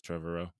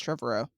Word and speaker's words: Trevorrow: colin trevorrow or trevor i've never known how to say his name but i think it's trevorrow i think it's trevoro yeah it looks like trevor he directed jurassic world